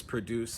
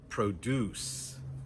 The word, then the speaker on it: produce: Farmers produce a lot of wheat in Kansas. Produce, produce. But when we use that same word as a noun or an adjective, the stress is on the first syllable.